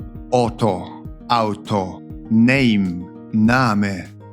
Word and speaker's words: Auto: Auto, Auto, Name, Name。